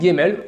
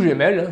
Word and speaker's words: Gemmell: aucune jusqu'à la récente découverte du généticien néo-zélandais Neil Gemmell, ou Gemmell, selon comment on veut le prononcer, de l'université d'Otago à